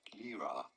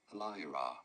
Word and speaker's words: Lyra: about pronouncing this one no it is not lra but rather Lyra Lyra Lyra pretty straightforward once you know Lyra okay Lyra I